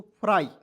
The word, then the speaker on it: fry: FR को क्या लिखते हैं, फ्र, और अंतिम में मैंने बताया कि अंतिम में Y आएगा तो उसका उच्चारण हो जाएगा दोस्तों आई के रूप में, तो हो जाएगा दोस्तों फ्राई।